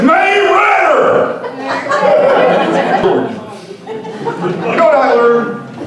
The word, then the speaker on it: Marietta: Anyway, I grew up in a little town called Marietta. This guy in West Virginia, he's like, oh no! You said it wrong! It's May Ritter!